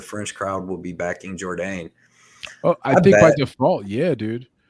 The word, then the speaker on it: Jourdain: I mean, the last name, if you pronounce it correctly, the last name is pronounced with a bit of a Jourdain. French, yeah, French accent.